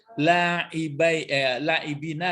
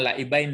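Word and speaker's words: لاعبينَ: Baru ini dia laibina lah, bukan laibain ya. Itu makanya hati-hati membacanya.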